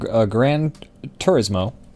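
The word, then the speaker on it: Gran Turismo: the audience sides with us we were watching Grand Turismo um which is how you say it actually what however else people pronounce it is wrong um but we were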